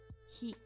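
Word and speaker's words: 火: You can read it as hi.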